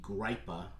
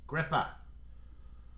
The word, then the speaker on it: Gripah: I guess it could be Gripah, but up here in Massachusetts and the New England area where these beers are brewed, I'm pretty sure it's pronounced Gripah.